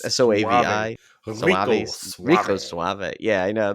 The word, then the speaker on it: Soavi: Mystery of the Cathedrals interview with director Michael Suave. I don't know how to say his name. It's Soavi.